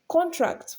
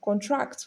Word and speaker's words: contract: So when it functions as a noun, it is stressed on the first syllable usually. And when it is function as a verb, it is stressed on the second syllable usually.